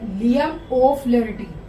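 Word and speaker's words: Liam O'Flaherty: तो इसका राइटर है एक आयरिश राइटर जिनका नाम है लियम ओ फ्लेरिटी। इसकी प्रोनाउंसिएशन मैंने हिंदी में लिख दी है, लियम ओ फ्लेरिटी।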